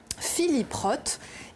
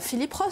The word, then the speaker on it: Philip Roth: 22 mai à manhattan philip roth et non philip roth prononciation à la française pour la quasi totalité des médias alors qu'on devrait dire philip roth célia enfin pardonnez-moi davance